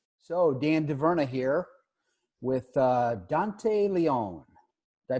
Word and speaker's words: Dante Leon: it both so dandy Verna here with Dante Leone I pronounced that correctly that's it that's the real